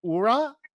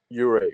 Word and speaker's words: Uhre: Ure would probably be the way that I would say it. But if I were to say it in Danish, it would be Ure.